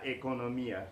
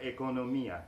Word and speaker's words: economía: economy in Spanish is la economía with the accent on y la economía la economía in arabic